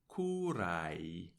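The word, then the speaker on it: curae: letters A and E which is pronounced in the restored classical pronunciation of Latin as AI a model or paradigm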